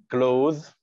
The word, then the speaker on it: clothes: Make clothes. معناها يصنع ملابس. Make clothes. الES مش بننطقها. Clothes. Surprising.